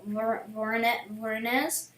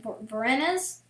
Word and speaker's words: Voronezh: I'm sorry for all the people from Voronezh. That's how you pronounce it, but I can't. Voronezh?